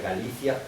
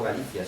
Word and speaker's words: Galicia: Hungría incluía chequia incluía parte de Polonia incluía Galicia no Galicia sino Galicia la Galicia que está ahora en